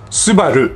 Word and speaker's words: Subaru: next up we have Subaru in Japanese we pronounce this Subaru a Subaru is the manufacturing division of Fuji